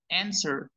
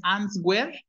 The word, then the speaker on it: answer: entonces decimos en la W Perdón la W enser no es no es answer ni tampoco han sino a ver díganlo también